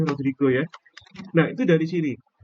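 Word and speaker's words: Rodrigues: Nah, kalau kalian mau tahu penurunannya ini, rumus formula Rodrigo ini ya, Rodriguez itu tulisannya Rodriguez tapi bacanya Rodrigo ya.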